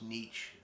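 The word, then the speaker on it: Nitzsche: the american guy uh can't really spell the name but it's pronounced nietzsche there's a z in there somewhere he worked a lot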